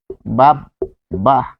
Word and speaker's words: বাব্বা: থাকবে তাহলে কিরকম আমরা দেখব যে বাব্বা বাহ ফলে এখানে আমরা পাচ্ছি বাব বাহ এরপর আমরা দিছি সাব্বাস